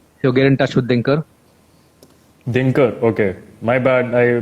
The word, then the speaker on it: Dinkar: Din as in Din Raat. Okay, Dinkar. And Okay. Kar, like Now I'm gonna- Omkar. Dinkar.